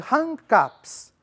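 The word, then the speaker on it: rangkap: As estrofes do pantum são chamadas de hang caps.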